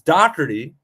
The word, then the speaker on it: Dockery: it makes no sense it's Dockery like Doc I think we knew